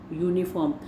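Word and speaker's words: uniform: लिखा तो यू जा रहा है लेकिन उच्चारण जो है वो य है, इसलिए इसके आगे ए लगता है, एन नहीं लगता इस तरह के वर्ड्स में।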